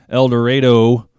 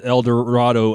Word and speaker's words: El Dorado: first moved to kansas i pronounced that el dorado and somebody corrected me corrected me very quickly said no it's not el dorado it's el dorado but i know the eagle song it's el dorado and it seems like